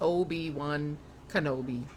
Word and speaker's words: Obi-Wan Kenobi: Anakin Skywalker's teacher was called Obi-Wan Kenobi, pronounced Obi-Wan Kenobi.